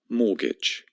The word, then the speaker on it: mortgage: Here they are: mortgage, interest, debt, loan, and bankruptcy. So let's start with mortgage. Repeat: mortgage. First of all, the T is completely silent. Imagine it's not there.